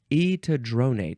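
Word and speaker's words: etidronate: also um EAD dronate EAD dronate disodium EAD dronate that's how you say it okay um so there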